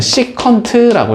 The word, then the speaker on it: 시컨트: 그래서 얘는 시컨트라고 읽어준다. 됐지? 얘도 원래 뭐였겠어? COTAN이었을 것 같잖아? 얘는 코탄젠트라고 읽어준다.